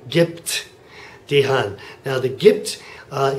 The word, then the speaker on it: gibt: a p sound Gip well it turns out that a b at the end of a syllable actually sounds a lot like a p so that's what we have Gip by the way if